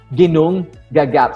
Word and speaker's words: Ginnungagap: Again, don't be confused with the spelling and how it is pronounced. The big, dark, vast emptiness is called as Ginnungagap.